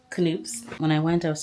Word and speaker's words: Knoops: I'm back from Knoops, which I now know is pronounced Knoops.